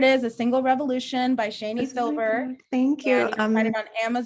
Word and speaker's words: Shani: you read it and no one knows how to pronounce my name ever but it's i read the article how to pronounce my name because i was calling you shawnee and i was like that's not right so yeah i think actually shawnee is the correct pronunciation for my spelling it's just that my parents said it differently so no worries there